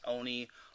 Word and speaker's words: Oni: i will remember that oni's name is pronounced oni oni o fubu and if i ever